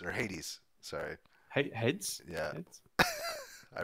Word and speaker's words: Hades: brought them into the studio supergiant's new game heads or Hades sorry hey heads yeah I read it wrong